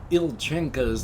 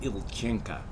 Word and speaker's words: Ilchenka: the magical plague and now that he knows that ilchenka's name is not ilchinka that's just the way their accent pronounces the name he gets his old